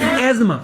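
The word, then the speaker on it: asthma: disease अल्लाह ताला बच एज अस्तमा इट इज प्रोनाउंसेड एज एज्मा समझ आ गई बात बोल्ट इट इज़ एज्मा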